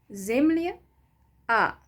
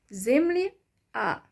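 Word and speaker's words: земля: way it is pronounced zimly ah so still at the end you hear a sound but um the ya letters softens the consonant before it zimly ah zimlia so that was an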